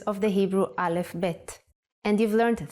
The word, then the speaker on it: bet: The sound of vet is V, but we don't count vet as a separate letter in the alphabet. So far, you've studied 2 letters of the Hebrew Aleph Bet, and you've learned 3 sounds.